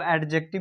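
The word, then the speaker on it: adjective: junction इंटरजेट और एडजेक्टिव इसमें D silent होता है इसको एडजेक्टिव भी पढ़ सकते है एडजेक्टिव भी पढ़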